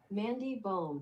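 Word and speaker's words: Mandy Böhm: Mandy Bum. Mandy Bum. Yeah, that's bum. It's pronounced Mandy bum.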